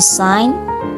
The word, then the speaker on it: sign: next The Letter G The Letter G can be silent in certain words for example the sign sign forign and the